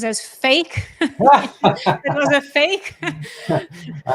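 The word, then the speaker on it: PHEIC: in also when you pronounce it it's it pronounces as fake it was a fake I hadn't come up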